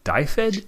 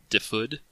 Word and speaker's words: Dyfed: yes that right yeah so die fit is kind of the American butchering pronunciation of it I have a few Welsh players in cohorts who complain that I'm mispronouncing because it's a it's a real place across the pond and it's it's closer to differed sorry if I'm butchering